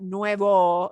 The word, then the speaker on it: nuevo: And now fíjense, notice this is why this is why it's important not to pronounce the number with a smile at the end. Nueve has a smile at the end, right? Nueve is 9, but nuevo is new, as in never been worn, okay?